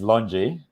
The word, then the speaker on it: LONGi: been a bit fearful because longy or longi I always pronounce it like a typical Londoner and calling it longy long my my it is it is longy um but yeah I